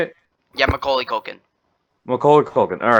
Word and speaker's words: Macaulay Culkin: Yeah, Macaulay Culkin.